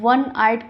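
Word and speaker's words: one-eyed: ठीक है, भले ही ये वॉवल है, AEIOU है, फिर भी इसका जो साउंड है वो कॉन्सोनेंट साउंड है, वाह बन रहा है।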